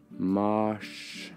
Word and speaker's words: mars: to read I would that looks like Mars right in in English that's Mars in Norwegian it's Marsh Marsh so that that's a